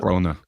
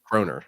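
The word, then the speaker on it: kroner: oh also 17 uh Danish coer Conor how how do you pronounce it croner croner okay I got I'm figuring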